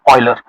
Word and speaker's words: Euler: अब ये यूलर नहीं है, इसका करेक्ट प्रोनाउंसिएशन है ऑयलर।